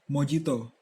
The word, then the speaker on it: mojito: Minuman internasional yang kami pilih adalah Mojito dari Kuba. Sejarah Mojito, atau yang dalam pelafalan Spanyol disebut mojito, adalah sebuah minuman beralkohol khas Kuba.